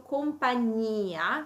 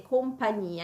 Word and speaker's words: compagnia: eccezioni, in alcune parole, come per esempio compagnia, vedete, compagnia, in quel caso c'è la i tra gn e la a, ma perché la i è tonica, la i, cioè l'accento, cade proprio sulla i, e in questo